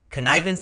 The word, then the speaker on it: connivance: concept connivance word type connivance is a noun it is pronounced c n vun with the stress on the second syllable meaning connivance refers to